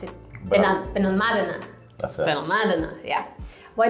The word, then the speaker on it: Benalmádena: How do you pronounce it? Benalmádena.